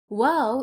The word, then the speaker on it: Waw: Waw is pronounced like the double O in the English word boot. boot, oo. Round your mouth and extend your lips as much as you can. Ooh, ooh. It's not o, it is ooh, ooh.